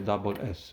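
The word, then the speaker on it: ß: जब मैं छोटा था और जर्मनी गया था, तो मुझे लगा कि इसका उच्चारण "B" है। लेकिन वास्तव में यह दोहरा "S" है।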